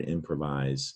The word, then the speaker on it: improvise: in pravis a and that's why our english word improvise is spelled with an s this is the french it's not spelled with a z it sounds like a disease sounds like a z it's an s improvise and because of the